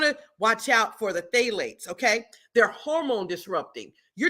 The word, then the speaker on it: phthalates: It's spelled with a P, phthalates, okay?